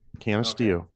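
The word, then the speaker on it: Canisteo: Canasteo.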